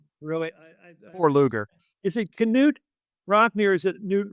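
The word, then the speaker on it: Knute: Is it Canute? Rockney, or is it Newt Rockney? It's Canadian. Pronounce it. Canute. Okay, Canute Rockney.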